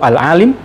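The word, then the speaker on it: العالِم: ibarat kematian dunia alalam hurufnya sama Alif Lam Ain alif lam mim Tapi bacanya yang beda satu alalim yang kedua alalam eh bagi dunia pernaskahan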